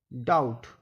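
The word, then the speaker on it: doubt: B silent रहता है जब टी से पहले बी आए तो बी साइलेंट रहता है जैसे डी ओ यू वी टी डाउट डाउट इसमें बी साइलेंट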